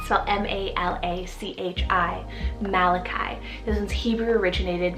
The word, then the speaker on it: Malachi: family now for a biblical option i have malachi cell m-a-l-a-c-h-i malachi this is hebrew originated meaning my messenger